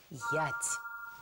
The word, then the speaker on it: ять: Это наша любимая «ять». Эта древняя славянская буква читается как «е».